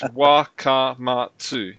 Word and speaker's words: Wakamatsu: It's Wakamatsu. That's easy. You just That's it. I just say it like Roberts. That's it. I'm white. That's as simple as that. So every what's the A-I-O-U? What's that? That's a vowel. Vowel. So every vowel you stop.